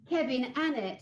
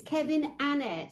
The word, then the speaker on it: Kevin Annett: Kevin Annet. And that's how you pronounce it, guys. It's Kevin Annet.